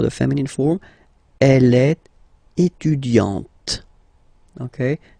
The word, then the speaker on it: étudiante: Okay, you don't really insist on the e, but you insist quite much on the t. Elle est étudiante. Il est assistant. So don't pronounce the final t here.